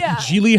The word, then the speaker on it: Gigli: Note, the first G in Gigli is pronounced like the J in Jacques. The second G is silent, rhymes with really.